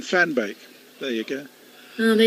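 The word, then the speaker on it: van Beek: worked out hard to accept M's guidance on the pronunciation for fan bake uh and it is that he goes like a Dutch Alin and a Dutch Alin of course can fan bake there you go oh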